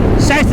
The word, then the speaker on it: Scheiße: Scheiße is how they say it in German.